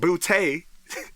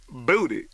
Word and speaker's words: Booty: burns my Buddha is people who pronounce the last name bootay instead of booty hey you know you